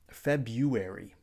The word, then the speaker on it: February: In American English, we say this word like February, and it's easy to forget that there is actually an R in the word.